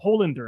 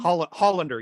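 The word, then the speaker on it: Holender: not realize that uh adam hollander i believe he pronounced his name hollander yeah yeah hollander uh was the same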